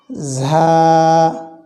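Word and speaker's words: ظاء: তাহলে এটি আমরা উচ্চারণ করব, হালকা ঝিঝি চিকন আওয়াজ হবে।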